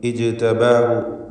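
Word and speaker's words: اجْتَبَاهُ: ഇജ്തബാഹു ജീമിൻ്റെ സുക്കൂൻ ഖൽഖല സുഗ്റ നൽകി ശബ്ദം ഹറക്കത്ത് പോലെ ചലിപ്പിക്കുക.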